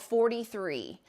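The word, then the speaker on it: Forty3: Aurifil has a new long arm thread, and it's called 43, and it's spelled 40, F-O-R-T-Y, and then the number 3.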